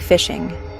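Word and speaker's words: phishing: It's pronounced just like fishing, and that's exactly what it is.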